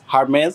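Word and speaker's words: Hermès: nice তারপরে এইচ ই আর এম ই এস হারমেজ হারমেজ very good B O double T ই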